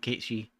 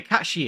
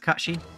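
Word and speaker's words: Cait Sith: know what I'm dumpstering Casey yeah Kashi is how it should be pronounced I believe right okay sir Kachi I don't know yeah it is pronounced Kashi very nice it also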